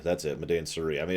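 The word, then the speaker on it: Madain Sari: includes parts of I don't remember how to pronounce it. Medain Suri, that's it, Medain Suri.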